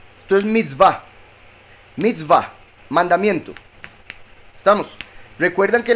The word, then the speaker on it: mitzvah: Solo que aquí se pronuncian va. La vav como una V, la hei como una A. Entonces mitzvah.